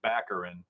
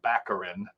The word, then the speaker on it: Baccarin: still to this day i believe the last name is pronounced baccarin accurate and i don't